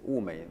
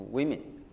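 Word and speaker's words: 物美: In Chinese, it's Wumei, then means 价廉, means Wumei, and the price is good as well. But for English speakers, it's easy to pronounce Wumei to women.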